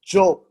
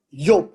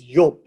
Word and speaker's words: Job: Although it's pronounced as Job, it's Yob. Sorry, it's Yob. It's pronounced as Yob, right? And the Y became a J, so it became Job.